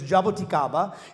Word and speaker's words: jaboticaba: Um it is not pronounced jaboticaba. So, it is jaboticaba. And so, the jaboticaba is like a Brazilian grape.